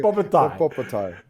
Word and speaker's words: Bobotie: to try, and she spelt it out here phonetically, all of them want to try your Bobotie. Bobotie. Okay. Bobotie.